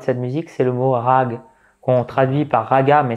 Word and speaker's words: raga: sur YouTube rag ou raga, plutôt raga. On écrit raga, mais ça se prononce rag.